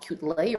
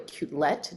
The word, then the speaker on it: Quetelet: And so I want to take you back to the 1800s, where we look at Adolphe Quetelet or Quetelet, depending upon how you want to pronounce it, and look at this